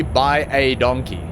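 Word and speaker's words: baie dankie: by a donkey literally by a donkey and that means well in Afrikaans will pronounce it by a donkey but it's so damn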